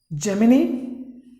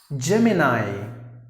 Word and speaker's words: Gemini: geek like that okay the next word is Germany that's an incorrect pronunciation for this particular word you have to pronounce the word us excuse me Gemini Gemini is the third